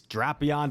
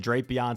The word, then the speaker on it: Drapion: someone that's already mentioned it's because the official pronunciation I learned is draon but I've always said drapion so now I like I use it interchangeably